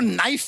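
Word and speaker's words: knife: जाए सरमा जी आपको नाइफ word मालूम है नाइफ उसमें शुरुआत में जो के होता है वो क्या है साइलेंट आप भी रहिए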